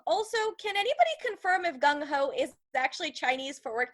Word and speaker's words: Gung Ho: Now, Gung Ho is an English term rhyming with slung low with the current meaning of enthusiastic or overzealous.